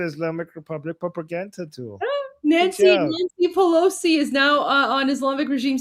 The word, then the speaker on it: Pelosi: Guys, we have the letter P in Persian, so it's Nancy Pelosi. That's how it's pronounced. Yeah, we have P sound because Persian.